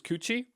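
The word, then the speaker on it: 口: Or mouth, the way you pronounce it is Kuchi, kanji for mouth.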